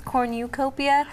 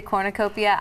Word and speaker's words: cornucopia: pronounce that correctly yeah I think it's corn you copia but then some people say cornucopia I wouldn't know what